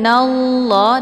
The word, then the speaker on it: Allah: Nah, kemudian untuk lafadz jalalah ataupun lafdzul Allah ini dibaca tebal ya, karena sebelum lafadz jalalah berharokat fathah yaitu na. Cara bacanya innallah, nallah, jadi ditebalkan, bukan nalla ya, tapi nallah ditebalkan.